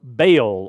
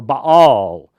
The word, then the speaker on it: Baal: Through time, Nimrod became known as the sun god, or Baal, or Baal, depending upon your translation and how you pronounce it.